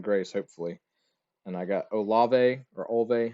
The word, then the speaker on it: Olave: And I got Olve or Olve. How do you say his name? Olave.